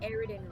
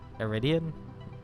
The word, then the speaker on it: Eridan: I swear to God, when you were reading out the fucking post I sent you, you pronounced Eridan really weird. Eridan. Iridian? Maybe? Yeah, you said Iridian.